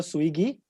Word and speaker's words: Suighi: yeah so is uh my pronunciation correct when i say swiggy perfect amazing my man in